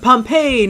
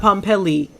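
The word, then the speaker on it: Pompeii: um uh pom oh Pompei not pompell uh I don't know if probably you typed it right I just didn't read it right uh it's pronounced Pompei not pomel gotcha gotcha gotcha I'm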